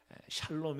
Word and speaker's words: 샬롬: 나와있어요 샬롬 이 많냐 살롬 이 만나 하는데 어차피 우리 말이 아니기 때문에 샬롬 이던 살롬 이던 예 같은 것으로 그렇게 이해를 하시면 좋겠습니다 물론 학자들은 샬 롬 2 더 원어에 가까운 발음이다 이렇게 말해요 그래서 저도